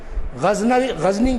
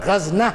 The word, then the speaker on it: غزنی: اوپر قبضہ کر لیا، جس کا تلفظ مختلف طرح کیا گیا ہے۔ غزنی بھی کہا جاتا ہے، اخیر میں نون لگایا جاتا ہے، غزنی بھی کہا جاتا ہے یا کے ساتھ، اور غزنہ بھی کہلایا جاتا ہے، ایک ہی مقام ہے، لیکن اس کا تلفظ عربی کتابوں میں آپ کو تینوں طرح ملے گا۔ بہرحال چونکہ جانشین عام